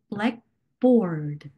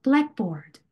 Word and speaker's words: blackboard: 이럴 땐 greenhouse가 되고 blackboard, 칠판이라는 의미로 다시 새로운 의미를 가진 이 단어에는 앞에 부분에 강세를 주는 경향이 있다. 그래서 blackboard 이런 식으로 blackboard. 네.